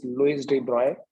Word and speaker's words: Louis de Broglie: The correct pronunciation is Louis de Broglie.